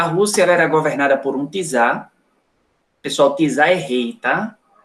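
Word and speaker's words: czar: era governada por um pisar se escreve com c mas a pronúncia é com te tá os e em russo tensão de T de tatu tá então pisar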